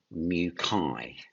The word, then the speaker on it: muci: One type of mucus, several types of muci.